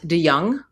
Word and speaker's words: de Jonge: I'm here with Matt DeYoung, which I mispronounce as Matt DeJong because it's spelled that way.